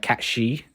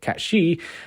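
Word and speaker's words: Cait Sith: fact that cats uh cat she that's how you meant to pronounce it catshi um actually has a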